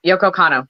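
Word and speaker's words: Yoko Kanno: hell for it um somebody know that yep yokocano thank you all yeah highly recommend the soundtrack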